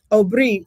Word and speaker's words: Aubrey: Uh Ori is how we pronounce it because my first language is Creole.